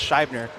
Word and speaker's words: Scheibner: I don't think a lot of people know that his last name is actually pronounced Scheibner because his nickname is Shibby.